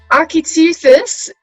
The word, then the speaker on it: Architeuthis: much as we can so architectures is how how it's pronounced um it basically means giant squid um so our ep